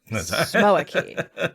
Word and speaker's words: Smoaki: Smoaki. Smoaki. It's smoky, but with an extra A, so Smoaki.